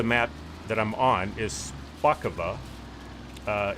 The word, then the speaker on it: Szpakowo: name of the map that I'm on is spaka uh it's spelled s is it szp yeah szp a